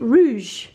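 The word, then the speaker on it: Rouje: It's by, I think we're pronouncing it Rouge, R-O-U-J-E.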